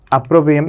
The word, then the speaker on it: opprobrium: तो आपके सामने जो लिखा हुआ है ना, अप्रोब्रियम, इसकी स्पेलिंग होती अपमान।